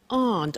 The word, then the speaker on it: aren't: they aren't cheap so the difficult here is the pronunciation of AR not which is Aunt okay a good so